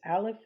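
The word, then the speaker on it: א: this letter right here which is a silent letter only has a sound if it um if it has a vowel aleph indicates the Oneness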